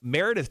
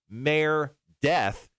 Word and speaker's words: Meredith: Now, Meredith chimed in. She said, my name is Meredith, not merely Mare Death. Mary, Mary. Do I have a lisp? No, it's Meredith.